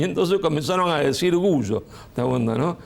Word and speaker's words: Gullo: pronunciaba No es cierto como el apellido se pronuncia originariamente en italiano y así se pronunció siempre en Rosario gullo No es cierto eh la doble l en italiano es una l fuerte No es cierto larga eh Y qué pasó pasó